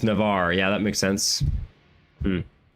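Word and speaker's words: Navarre: Uh, Navar, not Navara. Oh, Navar, not Navara. Um, why have I always called it Navara? How is it pronounced in Spanish? That's the question I have. But it's Navar.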